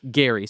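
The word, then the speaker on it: Gerry: So it's named after Elbridge Gary. So it technically should be called Gary Mandaring, but it's spelled G E R R Y.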